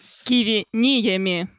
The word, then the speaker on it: Киви Ниеми: Киви Ниеми.